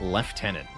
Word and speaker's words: lieutenant: Not sure how they got left tenant. Like, how do those letters form left? They don't. Doesn't make any sense. Even if you're ignoring the French pronunciation, doesn't it wouldn't be it would be like lute tenant or something.